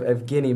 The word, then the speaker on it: Evgeny: I believe you were thinking of Evgeny Malkin. Evgeny, okay.